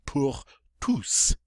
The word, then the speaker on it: tous: Normally this word is pronounced tu. The S is silent. However, when it follows a preposition like this, we get to pronounce the S. So it's going to be pour tous.